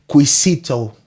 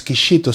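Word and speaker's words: Quixito: with their pronunciation probably they will say quisito because is an x on the is a qu u i x i oisito but it's not quito it's kishito so that's that's the x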